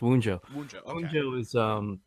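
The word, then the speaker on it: Wunjo: does one Joe actually have a meeting is pronounced wound Joe is the name of a rune are you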